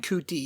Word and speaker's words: Ncuti: Ncuti yeah.